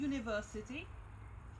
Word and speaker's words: university: have worked like a university which is as you may see starting with you but this U is not pronounced like oh like vowel but it's pronounced with the consonant in connection with University